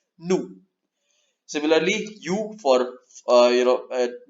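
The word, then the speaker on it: nous: it is new yeah I know it is n o us you might make it mouse but it is no pronounced new similarly you for you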